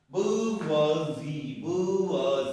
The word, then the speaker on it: bourgeoisie: bourgeoisie जैसे हम लोग पुअर बोलते हैं ना, पुअर poor, downpour.